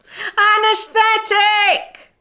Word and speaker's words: anaesthetic: get what you want anesthetic say ah nurse tick again say ah nurse